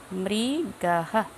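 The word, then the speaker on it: মৃগঃ: মৃগাহ। এই বিসর্গটার জন্য একটা একটা শব্দ হয়ের মতো একটা উচ্চারণ হচ্ছে, হরিণ মৃগাহ।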